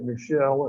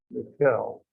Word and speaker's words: Frantz Michel: It looks like Michel, and it would be if it were French, but it's not. It's German, and the German pronunciation, you all might know, is usually Michel.